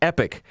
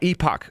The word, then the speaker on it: Epoch: look it up it's it's pronounced epic not epoch unless you're british or stubborn or ignorant which i can be